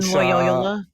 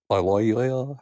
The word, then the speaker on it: Loyola: Laoya Loyola Loy. Yeah. Yeah. Yeah. What was the second one? Uh, Washington. Yeah, I'll say Washington. What were the other two other than Lyola? Loyola.